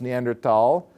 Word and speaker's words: Neanderthal: when this was found it was Neanderthal with an H pronounced the same way it comes into English and it becomes Neanderthal and so Neanderthal is